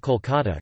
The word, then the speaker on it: Kolkata: the Bengali, Kalakata, although the city's name has always been pronounced Kolkata, Kolkat, a Bengali, Kolkata or Kolkata, Klikat, a Bengali, Kalakata in Bengali.